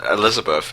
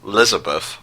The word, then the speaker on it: Lizabeth: Actually, just looking at Wikipedia, her name isn't Elizabeth, it's Lizabeth.